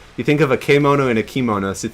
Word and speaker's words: kemono: Kimono is formal wear. Kemono is beast. So it's actually Okay. kemono. Yeah. So it's a different syllable, but close.